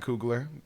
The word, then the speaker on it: Coogler: Jordan and Ryan Coogler. Those are my guys. Did I say that name wrong? Coogler?